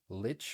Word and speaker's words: Lich: press the wrong buttons Lich rhymes with witch that that's perfect very